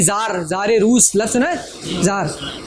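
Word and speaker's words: Tsar: होती थी बादशाह के हाथ में होती थी जार जारे रूस लार हां तो ज़ार से ये टी साइलेंट होता है।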